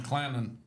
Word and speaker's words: Clanton: And well, I know a lot of people down here call this town Clannon. C L A N O N. Oh, yeah. It's not Clanton.